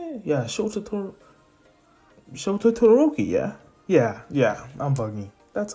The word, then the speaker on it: Shoto Todoroki: Yeah, Shoto Todoroki, yeah?